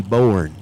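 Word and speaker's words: Boerne: that's what it is b o e r n e borne borne since it's in the South it has to be two syllables born instead of just born born 5,000 ated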